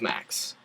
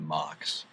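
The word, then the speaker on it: MAAC: max and or as as proper pronunciation would have it the Mox the MAA actually proper pronunciations Metro Atlantic Athletic College. Yeah, but we didn't pronounce those. We were pronouncing the abbreviation. Anyways, Max because I'm from Philly and I have an accent apparently.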